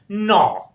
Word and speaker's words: gnaw: GNAW, and its right pronunciation is gnaw.